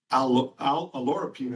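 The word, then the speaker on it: oleuropein: And although it's pronounced different ways, if you hear it, olorapine is how we're pronouncing it.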